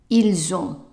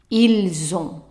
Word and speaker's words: ils ont: The T is silent, so try to read the whole thing. Ils ont. Ils ont.